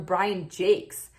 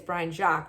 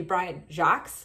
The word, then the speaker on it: Jacques: at a bookstore and the woman who was our buyer called him Brian Jakes, which is a bizarre way to pronounce it. I don't know if that was her mispronouncing it, but I would say it's Brian Jacques or maybe Brian Jacques if you want to make it a little bit more American.